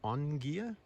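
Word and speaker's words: Ogea: little Island at all called o g e a but pronounced on gear and we are in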